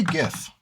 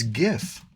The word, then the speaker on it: GIF: I say GIF with a G sound, right?